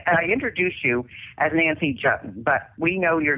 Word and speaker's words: Juetten: ways now I I introduced you as Nancy jutton but we know your name is spelled a little bit differently so how can